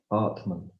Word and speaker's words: atman: It's interesting that the German word for breathing, atmen, is almost identical phonetically to the Sanskrit word for essence self, atman.